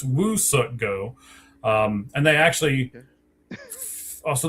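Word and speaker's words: Woo-Suk Go: It's not we suck go, it's Woo suck go.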